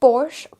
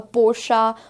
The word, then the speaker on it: Porsche: Here again we have Porsche. Porsche again is the incorrect pronunciation because इसे हम Porsche की तरह, even though ये दिखने में Porsche लग रहा है, but that's not the correct pronunciation.